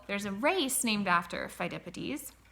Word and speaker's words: Phidippides: Phidippides. Phidippides. Look at how you spell that. PH is saying F, and then EI says I.